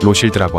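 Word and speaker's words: Rothschild: 최상급 와인으로 꼽힌다고 합니다 여기서 로스차일드를 프랑스어로 발음하면 로실드라고 하죠 프랑스 룩으로 박물관에는 로스차일드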